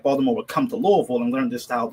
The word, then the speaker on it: Louisville: of the Pan-African Studies Department at University of Louisville, or Louisville, is how they pronounce it.